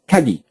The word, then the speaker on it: Kagi: now again i repeat people say this many ways in japanese it's kagi kagi uh in english we call it kagi because we're posh like